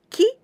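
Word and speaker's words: 季: some vocabaries related using these candies this candy pronounced Ki and the meaning is the season the stroke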